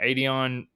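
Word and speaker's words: Adonai: sorry I'm going to butcher his first name Adon Mitchell also no you you said it right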